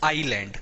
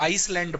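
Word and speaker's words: island: है आई थे लैंड इसमें ऐड साइलेंट रहता है पहली चीज तो यह क्या होता है आईलैंड कई लोग इसको आईसलैंड पड़ते हैं नहीं आईसलैंड तो यह होता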